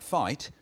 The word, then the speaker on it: fight: Letters like GH in a word like fight, well, they're hanging about for archaeological reasons. They're hanging about because once that was pronounced something like ficht, and the French scribes,